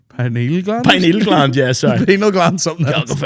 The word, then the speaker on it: pineal gland: that right partly so cal cal califas the penal gland L that's what they say is that how you pronounce that the penal gland yeah P gland pineal gland yeah sorry penal gland something I have a